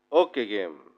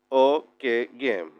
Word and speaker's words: Ockeghem: Con respecto al nombre, nació en Flandes, lo que hoy es Bélgica, Francia, Países Bajos, y su nombre se pronuncia algo así como, bien dijimos, Ockeghem.